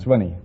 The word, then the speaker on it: Sweeney: You pronounce it Sweeney or Sweeney? Swinney.